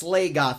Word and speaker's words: Slagoth: It's called, it's Slagoth.